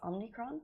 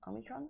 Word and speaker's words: Omicron: as winter meets is omnicron why have I said it wrong Omicron Omicron as winter meets Omicron so basically as